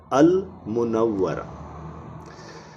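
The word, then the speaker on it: المنورة: क्योंकि मीम जो है वो मून लेटर है। नूर में अल जोड़ने से नून डबल हुआ था तो लाम साइलेंट हो गया था, लेकिन यहाँ पर लाम साइलेंट नहीं हुआ, यहाँ पर लाम को पढ़ा जा रहा है। इधर पढ़ेंगे अल मुनव्वरा।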